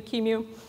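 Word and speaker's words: QEMU: code from the uh everyone pronounces this differently but a qmu Kimu uh project called slurp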